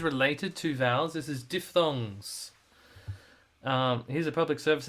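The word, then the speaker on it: diphthongs: This is diff thongs. Um here's a public service announcement. The word is pronounced like this. Diff thongs.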